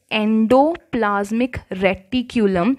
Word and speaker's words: endoplasmic reticulum: Second organelle is endoplasmic reticulum. Please try to pronounce it properly.